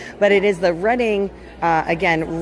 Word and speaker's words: Reading: Railroad on the Monopoly board cuz everybody always pronounces it wrong. But it is the Reading uh again Reading, Pennsylvania where these guys are based out of.